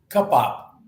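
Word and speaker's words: Cupbop: How do you pronounce it? cup up.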